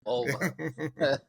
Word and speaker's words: Mulva: Mulva. I don't know her name. It rhymes with the body part.